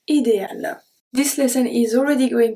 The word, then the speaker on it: idéale: We don't need the E at the end. We don't say idéal. We don't say that. Idéal.